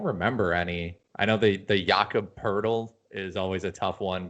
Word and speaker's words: Jakob Poeltl: I know the Jakob Poeltl is always a tough one because it's pronounced with an R. Even though there's no R.